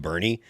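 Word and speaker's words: Boerne: There the town that I used to live in in Burnet, called Burney. It's spelled b o e r n e, and which is Super German.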